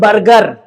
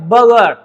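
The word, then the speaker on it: burger: आई टूक बर्गर नॉट बर्गर ये जो आर है ना सेकंड वाला ये साइलेंट हो जाएगा बगर आई टूक बगर यस्टरडे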